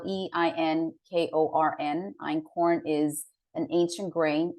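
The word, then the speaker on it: einkorn: I eat Ancient Grains called Acorn and and that's spelled e-i-n-k-o-r-n Ein corn is an ancient grain spelled is another one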